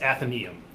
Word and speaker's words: Athenæum: to pronounce it is athenium okay and it's uh it's sort of like Athena and then the last part of Museum and that's kind of